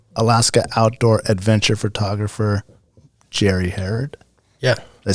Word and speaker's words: Herrod: Today we have Alaska outdoor adventure photographer Jerry Herrod.